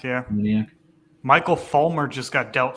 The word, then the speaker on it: Moniak: Moniak, yeah. Moniak.